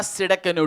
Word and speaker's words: Tsidkenu: यहोवा सिडकनो, T silent है उसमें।